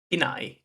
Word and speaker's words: Pinai: Did I say that correctly? Pinai is how you say it.